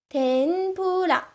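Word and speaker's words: てんぷら: This one is n. This one stands for pu. It would have actually been the fu sound in Mount Fuji, the fu sound. But when you add this circular thing about, it becomes a pu sound.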